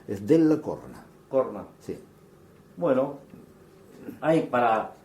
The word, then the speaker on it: Della Corna: ¿Cómo se dice? ¿De la Corne o de la Corna? Es de la Corna.